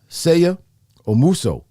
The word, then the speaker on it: Seigha Omuso: Seigha Omuso is his name.